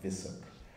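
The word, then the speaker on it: VUSSC: the virtual university of small commonwealth states it's pronounced vissuk but i was actually perplexed to read in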